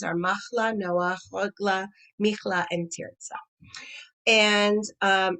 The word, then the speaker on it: Noa: and tierza and um noah here of course being the feminine form it's spelled differently it's not like noah as in noah as noah's ark it's no uh pronounced and spelled differently as a female name all right so we